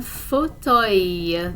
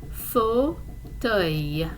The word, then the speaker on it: fauteuil: Let's see, un fauteuil. The pronunciation is a little bit tricky for this one. Un fauteuil.